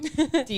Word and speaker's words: DAE: I know the pronunciation is a bit weird. DIE. That's how Belgians say it.